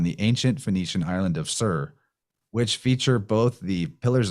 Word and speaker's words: Tyre: And that's Phoenician island, Sur, spelled Tyre, commonly mispronounced word since it looks like it would be tire.